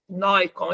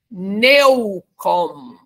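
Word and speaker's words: Neukomm: m m sigismund Nikon Nikon eu falo Nikon porque é pronúncia né mas a gente lê necom mas em em alemão aí é Nikon né então voltando só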